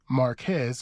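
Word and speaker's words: Marques: differently it's spelled the exact same his is pronounced Marquez mine is Maris but exact same spelling but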